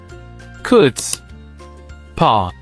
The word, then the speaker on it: chutzpah: it down two syllables CS paw notice the throaty KH sound at the beginning now repeat after me